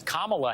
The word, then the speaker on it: Kamala: to make sure she took the time to introduce herself uh to former president Trump as Kamala Harris uh which is how you actually pronounce her name I think it was